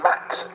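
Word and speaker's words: Maks: look at his name, it hasn't got an X in it, so how can you call him Max? Because it's a very unique spelling. It's spelled M-A-K-S, so let's go down that road. We'll go with Max Zalaski for the rest of the weekend, but then we've also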